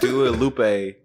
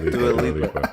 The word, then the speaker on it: Dua Lipa: Dua Lupe. Okay, look, you know. Did you say Dua Lupe? You know, how do you say her name? Oh, no. Dua Lipa.